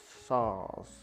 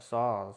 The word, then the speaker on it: Saaz: Not SARS, the disease. No, that's. Am I pronouncing it right? SAAZ. No, SAAZ. Yeah, SAAZ. It's SAAZ. S-A-R-S, isn't it? SAAZ. Yes. SAAZ help. No, it's S-A-A-Z.